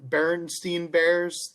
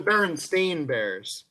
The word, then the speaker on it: Berenstain: one is the bern berenstein bears the bernstein bears however they're spelled oh they're the berenstain bears it's they're spelled like s-t-a-i-n but most people think they're the berenstein bears detail it doesn't matter